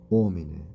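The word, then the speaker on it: homine: and omine. And as you know, H is silent when it comes the beginning of the word.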